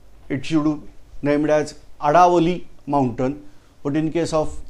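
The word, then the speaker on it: Aravalli: times from Indian language, if D is there, sound of D, then it is written as sound of R, so they are pronouncing as Aravali.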